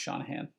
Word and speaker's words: Shanahan: Oh, it is pronounced like Shanahan. Okay, thanks, Sean. It's pronounced Shanahan.